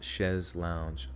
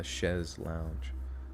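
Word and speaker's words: chaise longue: within those positions that can never have enough pronounced chez lounge oh okay a chezz lounge oh okay wait who told the who told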